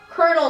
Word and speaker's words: colonel: Teomar Haluzin commented, OMG, Lindsay, I thought I was the only one who didn't get the colonel spelling thing. Glad you find it weird too. There's literally L's and you pronounce it colonels or colonel.